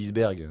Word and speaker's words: iceberg: Non, parce que normalement, la prononciation, c'est iceberg, mais personne dit iceberg, en fait. Enfin, il y en a qui le disent.